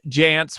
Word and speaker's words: Jantsch: marketing dot com jantz which is pronounced like pants but spelled a little bit different um but if you